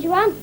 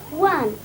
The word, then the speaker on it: Juan: of the emperor dan joanne and his brother jersey i think you'll find it's pronounced juan and jose spanish pronounced other jays like hatred anyway what months did